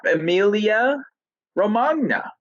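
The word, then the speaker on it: Emilia-Romagna: ahead pick it up emilia romagna all right it could be like lasagna or it needs a little bit more of like a yeah sound to it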